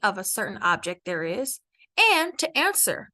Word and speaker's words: hay: would say I now I know there's a h in that word but remember the H at the beginning of the word in Spanish is silent so it's just I